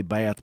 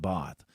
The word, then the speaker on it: Bath: close close to bath we say bath but they pronounce it both uh and you need